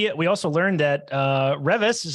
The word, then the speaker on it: Revis: We also learned that Revis is how you pronounce the author's name, not Revis, which we have probably been saying for literally years.